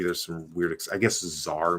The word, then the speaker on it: czar: some weird i guess czar maybe like c-z-a-r the tsar of russia i mean but there's also a z there like it's just written with a silent c at the beginning or whatever and there's